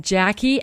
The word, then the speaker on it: Jacquie: Valley hearing calm now my name is spelled a little differently so pay attention I'm going to spell it for you here you go it's J AC Q u ie Jackie at Treasure Valley